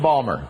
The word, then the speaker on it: Baltimore: and Maryland oh great I love Balmer that's how they say it by the way Balmer that's right hi Susie knows hey